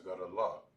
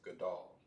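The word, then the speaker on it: גדל: have what we have it wouldn't be pronounced as god allah it will be pronounced as goodall all right a two-syllable word which means what which means he was great all of them are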